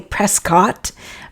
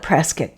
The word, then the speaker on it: Prescott: town, uh, Prescat, the it's spelled Prescott, and I really there's everything in me wants to say Prescott, but they call it Prescuit here.